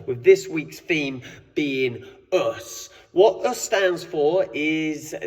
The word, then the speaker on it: Osu: basketball coach uh so us means or USU as it sometimes uh pronounced as you see it's written means uh I am